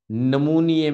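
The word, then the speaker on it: pneumonia: Bronco निमोनिया बोलते हैं निमोनिया में निमोनिया में जो पी है पहले पी है इसको साइलेंट कर देते हैं इसको लिखते हैं लेकिन पढ़ते नहीं है ठीक है इंटर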